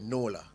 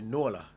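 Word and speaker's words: Nuala: get so the lady's name most people said Nola and that's how it's pronounced Irish so it's actually Nola n u a l ah Nola no is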